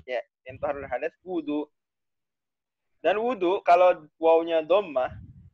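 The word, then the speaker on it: وُضوء: Ya, yang toharoh dari hadas, wudu. Dan wudu, kalau wawnya dhammah, wudu, maknanya menggunakan air, istimalul ma, di anggota-anggota tubuh tertentu, fi a'dha'a makhsusatin, biniyatin, disertai dengan niat. Ini wudu, kalau dhammah.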